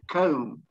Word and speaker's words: comb: b is silence cone see there's no b pronunciation at the end of comb we know what a